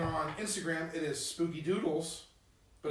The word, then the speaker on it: Dudles: And on Instagram, it is Spooky Doodles, but it's Yeah. spelled like, Spooky DUDLES. Okay. Like dude. okay, sick.